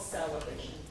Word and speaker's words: SEL-ebration: And it's called SEL-ebration. Oh, that's nice. That's how it's spelled out cuz it was It sounds like celebration.